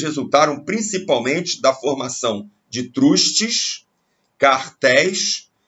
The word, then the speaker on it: trust: Se pronuncia trust, só que em português a gente fala truste.